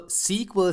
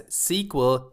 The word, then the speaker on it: SQL: Okay, so first of all, SQL stands for Structured Query Language. Sometimes it is pronounced as SQL, sometimes it is pronounced as SQL.